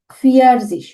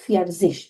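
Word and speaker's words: vierzig: 40-কে বলতে হবে ফিয়ারজিশ। ওকে, যেটা কিনা একটু আগে আমরা এখানে দেখেছি। এই যে 40-কে আমরা সবসময় বলবো, উচ্চারণ করবো ফিয়ারজিশ বলে।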